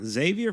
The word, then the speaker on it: Xavier: got Missouri Missouri here Xavier for sure Xavier's got the easiest Road yeah I like like Xavier a lot not just because they pronounce their ex like a Z is there any other